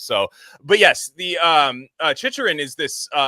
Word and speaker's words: Chicherin: Chicherin? Either Chicherin or maybe Chicherin. Yeah, Chicherin. Yeah. It's one of those weird sounds because it's obviously got a silent T, so it's got like a noise as well.